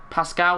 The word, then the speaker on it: Pascal: off and we'll use pasto Pascal that's how they say it is a Pascal gross